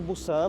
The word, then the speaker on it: Busan: A propósito, você escreve Busan, mas se pronuncia com P, Busan, não sei.